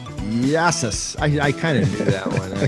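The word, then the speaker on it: Γειά σας: Yassas. Yassas.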